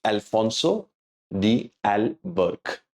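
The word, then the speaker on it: Afonso de Albuquerque: pronouncing his name so just remember he is Alfonso D Al Burke that's how we pronounce his name he initiated the policy of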